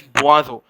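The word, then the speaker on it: boisson: the sort of hot beverages are known as buazo b o i double s o n okay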